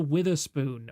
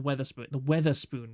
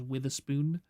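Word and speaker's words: Wetherspoon: Yeah, oh, this was the Witherspoon, or the Weatherspoon rather. Although some British people pronounce it as Witherspoon.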